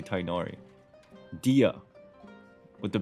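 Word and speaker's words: Dehya: how you say her name in English anyway Dia the H is like the basically I just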